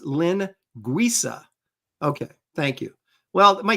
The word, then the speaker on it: linguiça: It's pronounced linguiça.